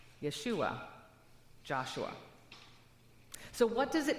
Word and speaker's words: Yeshua: Or in Greek would be pronounced Yesus. In Hebrew it would be Yahashua. Yeshua, Joshua.